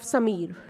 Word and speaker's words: Samir: they say Samir Samir so if we break down this name as Sam and E it makes a correct pronunciation of Samir and in Indian language